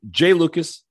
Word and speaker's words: Jai Lucas: top recruit like we we should know how to say his name yes so I apologize it Jay Lucas if he man wants to go be go by Jay we'll call him Jay uh it's funny that